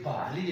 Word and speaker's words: بحالی: اس طریقے سے یہ بحری جو ہے اصل میں یہ بحالی ہے، BAHALI بحالی، بحالی مانے بحال ہونا، یہ بحری نہیں ہے. تو تلفظ اس کا یوں ہے یعنی بحالی لفظ ہے BAHALI.